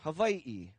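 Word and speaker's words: Hawaiʻi: or or Rich but there are some lineages that do say and pronounce a w with a V sound Havi or V the one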